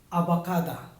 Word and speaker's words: abakada: Uh Filipinos all usually knows if we said abakada. A ba ka da.